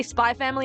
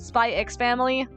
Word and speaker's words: Spy x Family: Or spy family is and not or like people that say spy family and not spy x family. Uh, if you don't want me to pronounce it, if you don't want me to pronounce the X, then stop using it.